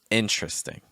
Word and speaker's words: interesting: That's because this word has what are called dropped syllables, or syllables that are not actually pronounced. So what would be a 4-syllable word becomes actually just a 3-syllable word.